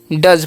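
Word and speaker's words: does: डी ओ ई एस, तो इसे डोज नहीं पढ़ना है या नोस नहीं पढ़ना है। डी का उच्चारण ड करना है, और ओ का अ, और एस का जो उच्चारण है ई एस, उसका उच्चारण यहाँ पर ज हो जाता है। ठीक है, ध्यान रखना। तो क्या पढ़ेंगे, इसे हम डज पढ़ते हैं।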